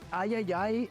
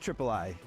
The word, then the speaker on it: ID@Xbox: partnering with called the Ayayay Initiative. Yeah, I'm pretty sure it's pronounced Triple I. You know, like AAA, but with I for indie.